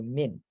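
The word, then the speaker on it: من: And the noon has a stop on it, so min. And min is a preposition.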